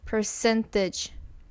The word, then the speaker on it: percentage: Someone might think, because age is age, someone might pronounce percentage. Yeah, that's quite right. Percentage. But it's kind of like tidge, right? Percentage. age, not like age. Percentage. It's like percentage, right? That's how you pronounce it.